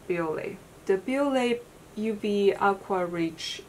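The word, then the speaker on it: Bioré: The first, I want to start with these two, which I feel like this build in Japan, they were pronounced Biore. So let's just call this brand Biore.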